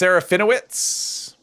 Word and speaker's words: Serafinowicz: Pronounced Serafinowicz.